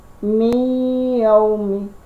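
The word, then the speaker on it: مِنْ يَوْمٍ: Tulisannya adalah min yaumin. Karena ini adalah hukumnya, bacaannya adalah idgham bi ghunna, maka cara membacanya adalah mi yaumi. Nah, y-nya ini sampai 3.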